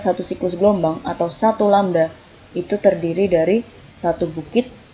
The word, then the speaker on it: lambda: Nah, ini bacanya adalah lambda gitu ya. Bacanya ini adalah lambda.